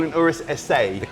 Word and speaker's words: Urus SE: People call it an Urus SE. People call it an Urus SA. The correct pronunciation is SA. SA. SA, absolutely. Doesn't mean it's a letter A. It's just because it's Italiano.